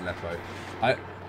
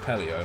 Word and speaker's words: Aleppo: Aleppo, it is pronounced Aleppo. I swear on the news they always pronounce it Apelio, I'm not sure why, but that's actually being screwed, like, right now, isn't it?